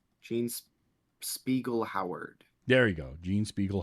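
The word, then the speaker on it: Jean Speegle Howard: a second ago uh Gene splegel if I'm pronouncing that right Gene Spiegel Howard there you go Gene Spiegel Howard yep and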